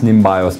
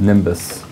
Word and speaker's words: NIMBioS: and biological synthesis which looks like it should be pronounced nimbios but we call it Nimbus um and it's a